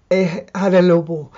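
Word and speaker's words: Hada Labo: Hadalobo, that's how I pronounce it.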